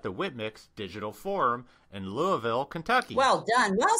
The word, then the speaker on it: Louisville: I was at the WITMIX Digital Forum in Louisville, Kentucky.